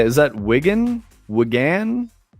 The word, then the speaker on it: Wigan: Is that Wigan? Wigan. Wagan.